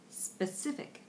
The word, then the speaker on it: specific: six the word is specific specific specific specific again and that's that neutral vowel on the first syllable just to throw away